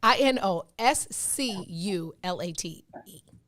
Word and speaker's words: inosculate: s q i'm sorry i n o s c u l a t e it is from the late 17th century latin it is a verb pronounced just like it's spelled inosculate it means join